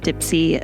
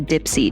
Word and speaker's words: Dipsea: So, I have talked about Dipsy a few times on the podcast and now